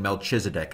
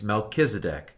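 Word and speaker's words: Melchizedek: ever catch you saying melchisedek I hate it when people say melchisedek there is no CH sound in Hebrew it's melkisedek kedc you know anyway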